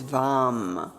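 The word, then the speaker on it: वं: And then the one syllable Sanskrit mantra is vam v orange.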